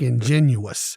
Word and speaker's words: ingenuous: I feel more like ingenuous, which is an adjective, 4 syllables, INGENUOUS.